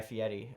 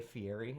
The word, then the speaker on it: Fieri: pronouncing Fieri the correct way. A lot of people say Fieri, and it's just not right.